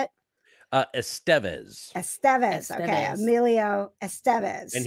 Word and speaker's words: Estevez: how does Rob Lowe say it uh Estevez Estevez okay Emilio Estevez and he's known him literally